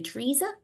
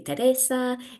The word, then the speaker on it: Teresa: So for example, Kath and I were chatting before about how to say my name, because in English, people say Teresa, whereas in Spain, they say Teresa, in Germany, Teresa.